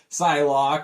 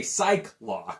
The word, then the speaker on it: Psylocke: You got some of the old school with Beast and Iceman against the newer members like Psylocke and Colossus. It's hard for me not to say Psylocke.